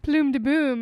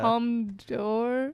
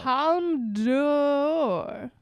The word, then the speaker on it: Palme d'Or: Palme d'Or. Yeah. Door. Whatever the fuck it's called. Palme d'Or. Yeah. I was just in France, so that's how you say it.